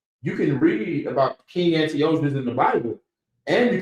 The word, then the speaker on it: Antiochus: King Antiochus. King Antiochus. King Salakia. Moreover, King Antiochus. Yeah, that's how his name is pronounced.